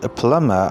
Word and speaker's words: plumber: This word is pronounced plumber or plumber because the letter B is silent in this word.